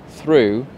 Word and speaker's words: through: example sometimes you travel through a tunnel so that's the preposition through the same letters as tough and thorough but again we have another pronunciation rule we've got an O sound at the end is derv up or